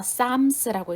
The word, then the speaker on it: Psalms: P와 L이 묵음이라고 했습니다. 그래서 Psalms라고 읽는다고 했죠.